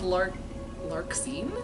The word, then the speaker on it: Larxene: Next is Larxene?